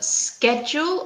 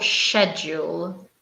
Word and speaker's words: schedule: vocabulary what about Emily how do you pronounce this word a schedule or schedule I would say schedule yeah I know her in British Asian but also pronounce schedule yeah as you prefer guys we can pronounce it schedule with a cuts our schedule or sure schedule I think both of them are acceptable I have definitely heard